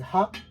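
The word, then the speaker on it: は: This is read as wa because it's usually it's read as ha, as if it's used in a word, but as a particle it changes its reading pronunciation into wa, and it's a topic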